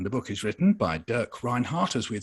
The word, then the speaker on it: Dirk Reinhardt: And the book is written by Dirk Reinhardt, as we'd say in English, Dirk Reinhardt, I think, as we would say in German.